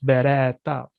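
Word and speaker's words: berätta: There's also cases where the second or third syllable, for example, in the word beretta, which means Mhm. to tell, and then we Mhm. stretch beretta, Okay.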